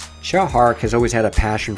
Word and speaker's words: Tsui Hark: his director chow hart a lot of other guys on youtube say his name sui but they're wrong xiao hark has always had a